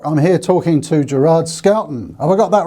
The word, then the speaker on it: Schouten: name it's ch so the h is silent so it's like school and it's dutch yes it's dutch so